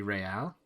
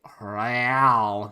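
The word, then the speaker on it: réal: of that word he pronounces the r with a mock aristocratic accent the iir or in interisolary intersolarly real is the global reserve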